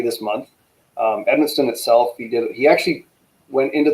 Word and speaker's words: Edmundston: So what is the status on I can't even pronounce it. Edmundston? Edmundston. It's like Edmundston.